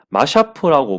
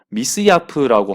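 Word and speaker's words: مصياف: 뭐 인터넷에 검색해 보거나 어떤 걸 읽어봤을 때 영어로 봤을 때 이게 마샤프라고 많이들 그 얘기를 하더라고요. 근데 제가 이 마샤프라는 것을 그 검색을 좀 해보니까요. 아랍어로 검색을 해보니까 미스야프라고 하는 게 더 가까운 발음인 것 같아서 저는 미스야프라고 말을 하게 되겠습니다.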